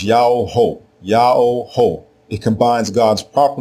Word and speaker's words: Jehu: The royal name everyone mispronounces today as Jehu is spelled with the single letter Yah as the prefix diminutive form. The king's name is not Jehu. It is Yao-ho, Yao-ho.